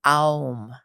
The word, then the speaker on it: Om: a video that says Om, and there's so many of them. Which is OM, by the way. OM, that's right. Yes. and it's actually pronounced Aum.